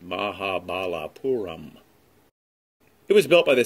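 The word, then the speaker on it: Mahabalipuram: where there is an ancient temple complex called mahabalapuram pronounced mahabalapuram it was built by the same ancient civilization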